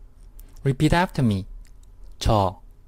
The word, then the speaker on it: 저: This Korean sentence, 저는 학생이에요, is what you're going to learn in this lecture. First, let's take a look at the words of the sentence. This character means I, and it's pronounced 저.